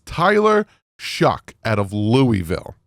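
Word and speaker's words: Shough: think it'd be Shuff but it's pronounced shuck and I literally went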